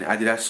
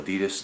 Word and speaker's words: Adidas: So these shoes are a collaboration between Adidas or Adidas, depending on how you pronounce it, and rapper Pusha T.